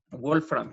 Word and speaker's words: wolframio: En este caso es el wolframio. Excelente. ¿Sí? Wolframio, así se pronuncia, ¿sí?